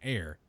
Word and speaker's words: heir: say a hair but I say an air cuz h e i r an air to the throne my Lord yes it's